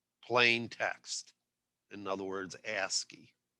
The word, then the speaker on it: ASCII: is called ascii and these are and it's pronounced ass ascii like that and it stands for american standard